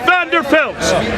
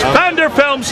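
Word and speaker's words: Pfander Films: Look at Vander Films. P-F-A-N-D-E-R-F-I-L-M-S. Vander Films spelled with a P.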